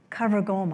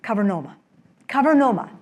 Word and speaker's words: cavernoma: Cavergoma, I may have said it wrong. Cavernoma, yes.